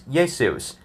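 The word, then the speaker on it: Ἰησοῦς: In English, it's pronounced as Jesus. But in Hebrew, it was Yeshua. In Greek, it was Iesous, not Zeus.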